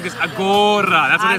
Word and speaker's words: agora: Great, perfect pronunciation. La praia tá muito boa. Oh, agora. It's exactly like this. Agora.